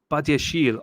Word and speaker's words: Badiashile: Badiashile. Call him the bad man. Told you, Miz, we are getting Badiashile as Colwell's backup. Badiashile Chile. Badiashile. What? No way. It's French, so it's Badiashile.